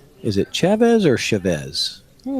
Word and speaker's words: Chavez: So it is Chavez. That's how I usually pronounce that name, Chavez.